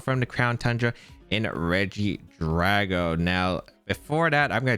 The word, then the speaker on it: Regidrago: but the thing is i pronounce this pokemon as reggie draco because i kept thinking it was a c and i never noticed a g until i was about to upload the video so r.i.p me that's